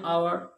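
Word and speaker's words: hour: जैसे एन आवर, okay, H आ रहा है तो उसका मतलब एच साइलेंट है।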